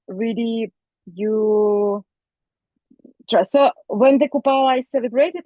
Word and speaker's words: Kupala: Kupala.